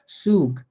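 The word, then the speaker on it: Zug: বলে থাকবো সেট, অর্থাৎ এই সেটটার উচ্চারণ হবে বাংলা স এর মতো করে, হ্যাঁ খুবই সহজ, বাংলা স এর মতো উচ্চারণ হবে, যেমন সুগ সাইট, অর্থাৎ সেটটা স এর মতো উচ্চারিত হবে।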